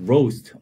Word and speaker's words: roast: roast 오우 발음 잘하세요. roast 이거를 고기를 주로 꼭